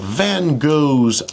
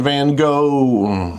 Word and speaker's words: Van Gogh: Now, I know the name pronunciation, there are different ways of saying G O G H in different languages. We're just going to go with go today.